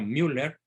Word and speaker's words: Müller: alemán cardenal Gerard Müller se escribe mwl e r con diéresis en la u por eso se pronuncia Müller dice que Benedicto 16